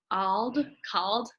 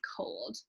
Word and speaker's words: cold: So when the O is followed by a consonant, you might think this word is spelled out called, but it's not. This word is cold.